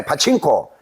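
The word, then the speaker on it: パチンコ: 그 우리는 자꾸요 애 보고 자꾸 이거를 보고 파친코라고 파친코를 하는데 일본 사람은 파친코라고 발음을 안 해요. 예. 뭐라고 바르냐면 전부다 바고 하거든요. 파고. 예. 예. 파칭코.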